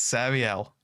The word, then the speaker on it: Sarielle: How would you pronounce that? You didn't do the numbers every time. No. It's Sarielle.